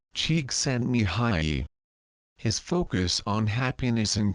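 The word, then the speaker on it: Csikszentmihalyi: in positive psychology today is Hungarian American professor mik myi in case you're wondering his last name is pronounced Chek s Mi High his focus on happiness and creativity led to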